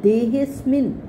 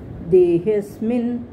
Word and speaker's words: देहेऽस्मिन्: और आगे कहा है देहेस्मिन, बोलने में एस साइलेंट है। देहे, हे के बाद आधा स और उसके बाद म को छोटी की मात्रा है जो स के लेफ्ट साइड पे है।